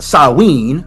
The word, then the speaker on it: Samhain: Samhain, pronounced Samhain, of course, was on November 1st.